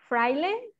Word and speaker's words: fraile: Can you help us spell that or write it in the chat for us? Fraile?